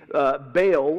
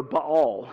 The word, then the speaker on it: Baal: One of them that shows up many times in the Old Testament is a god named Baal, or Baal, depending on how you want to pronounce that.